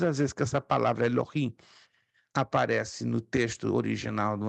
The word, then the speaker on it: Elohim: muitos pronunciam Eloim mas lembre-se que eu estou usando aqui o h para transliterar se você se lembra um pouquinho do hebraico estudamos o h se pronuncia com o som gutural forte então Elohim Deus forte poderoso uma